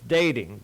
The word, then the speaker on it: Dataing: I just wanted to, because as you pronounce it, it's dating, but I want the